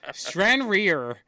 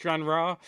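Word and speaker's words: Stranraer: strand rear versus Celtic strand rear actually it's it's pronounced strandra that's what I said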